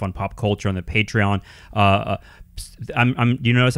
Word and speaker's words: Patreon: lot more stuff on pop culture on the patreon uh I'm I'm you notice I'm pronouncing it correctly now Danny since you corrected